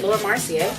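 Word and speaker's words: Laura Mercier: I'm going to take my lur Mar marcier lur marcier that's how you say it and I'm going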